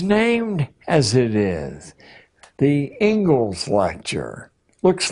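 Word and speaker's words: Inglis: and education is named as it is the Engles lecture looks like English but it's pronounced Engles and I would like to read you the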